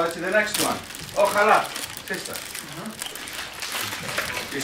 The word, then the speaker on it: ojalá: The Spaniards say ojalá, inshallah. Do they say that? Really? Are they Muslims, the Spanish people? Because J is yeah in Spanish. So J is not J. It's not pronounced as J. Ojalá.